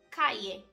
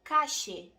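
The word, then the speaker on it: calle: Por exemplo, a palavra rua em espanhol, no espanhol casteliano eles dizem cae, caie. Na Argentina eles pronunciam cache.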